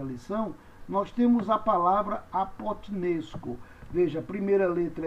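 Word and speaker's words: ἀποθνῄσκω: Como é que eu pronuncio nessa palavra o teta? Você faz um som do T mudo. Então você diz apote, nes, co, kappa, ômega, co. Então você diz apotnesco.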